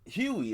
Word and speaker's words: Hughie: So Hughie, is it Hughie? Huey, it's Huey. Yeah, I remember now. It's Huey. I was about to say, why is it spelled like that? But it's Huey Campbell.